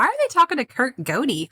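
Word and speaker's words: Gohde: his name was kurt goate his last name is g-o-h-d-e i would 100 percent have pronounced that wrong if i just hadn't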